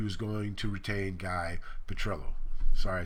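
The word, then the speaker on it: Petrillo: and Emory he was also talking to guy Petro who he later on in June whatever the date was he announced publicly that he was going to retain guy petrello sorry I said the name wrong earlier uh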